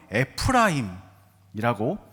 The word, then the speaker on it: 에프라임: 그까 번성하다라고 번역된 히브리어 파라라는 동사가 사용되었는데 그래서 에브라임도 사실은 원래대로 하면 에프라임이라고 히브리어는 발음을 합니다.이 파라라는 동사가 열매 맺다, 결실을 맺다, 번영하다, 번성하다라는 뜻이에요.